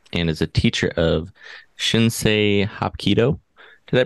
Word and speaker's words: Shinsei Hapkido: He's got a passion for martial arts and is a teacher of Shinsei Hapkido. Did I pronounce that correctly?